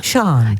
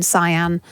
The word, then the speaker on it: Sian: It's a bit, it's because of the way it's spelled, Sian. In the same way that you have the same drama with your surname, you get called everything. I'm Sean, Sian, Cyan. I get called it all.